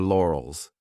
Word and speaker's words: laurels: This could be a hard word to pronounce depending on your native language because we have an R and an L lore, OLS lore, OLS. So divide the sounds and tell you're comfortable with each sound lore, OLS, and then you can pronounce it as one.